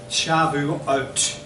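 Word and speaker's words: Shavuot: this weekend is called in Hebrew shabu oat that's how it's pronounced and so this morning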